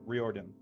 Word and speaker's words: Riordan: Exactly, you pronounce it exactly as it looks. Riordan. Riordan. Okay. Yeah, I didn't know if I had to pronounce it as Dan or Din.